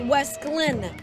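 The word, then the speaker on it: Wesclin: with a teacher and she said it's Wes Glenn because it stands for West Clinton County I can't wait to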